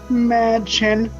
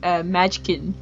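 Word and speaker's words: Mädchen: Her name is pronounced Madchen. But I think David Lynch called her Madchkin.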